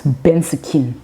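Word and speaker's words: bendskin: your skin on it so it's bent skin but but then we pronounce it it's like you have to put in your indigenous accents bensoquin and then for inter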